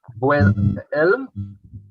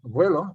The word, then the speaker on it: vuelo: Vuelo. Vuelto. Vuelvo. Vuelo. Is it vuelo? Vuelo. I don't remember saying vuelvo. I think it's vuelo.